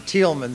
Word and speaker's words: Thielman: I think in Germany they pronounce it Thielman, so I'm delighted to be here to talk about the Cristo Rey schools.